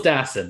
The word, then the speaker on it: Dassin: Jules Dassin, exactly how Mark Hellinger, which I will talk about fucking Mark Hellinger.